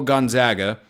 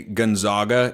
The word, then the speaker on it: Gonzaga: Mary's get discussed is the Gales would like to follow Gonzaga. That's how you pronounce Gonzaga, by the way. If I hear one of you say Gonzaga in person, I don't know what I'm going